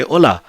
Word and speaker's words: hola: it says hola so h is silent in spanish so we say hola so this is quite